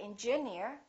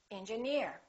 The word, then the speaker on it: engineer: alright here's another rule if the word ends with e e r we stress the suffix for example pioneer volunteer engineer we don't say engineer we say engineer another rule if the